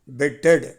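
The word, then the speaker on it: bit: பிட்டு பிட்டு மறுபடியும் சொல்கிறேன், அந்த பி எப்படி உச்சரிக்கணும்? உதட லேசாக மூடி லேசாக தான் திறக்கணும், அழுத்தக்கூடாது, நம்முடைய லிப்ஸை அழுத்தக்கூடாது. பிட்டு பிட்டு பிட்டு. அது மட்டுமல்ல, அந்த டி பாருங்கள், நாம் தமிழில் ஆசிரியர்கள் சொல்லுவோம் குண்டு டி அப்படிம்போம். அதுவும் உச்சரிப்பு பாருங்கள், அதிரும் ஓசையோடு வரும். டு டு சொல்லி பார்க்கணும், அப்போ தான் வரும் பிடு.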